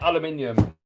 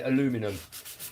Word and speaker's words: aluminium: Well, here in the UK, we say aluminium. I know you guys in America say aluminum.